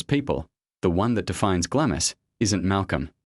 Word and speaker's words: Glamis: The name is pronounced Glamis, the L and S silent.